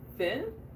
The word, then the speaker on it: Finn: Finn rhymes with sin.